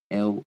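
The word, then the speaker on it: Lugh: L is spelled l u g h.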